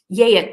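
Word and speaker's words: Geat: he's a he's a geet sometimes it's pronounced yet but it's spelled g-e-a-t he rules for 50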